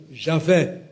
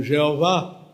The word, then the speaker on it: Javé: Deus é o que se diz hebraico Javé pronunciando errado chama o Jeová Javé é um Deus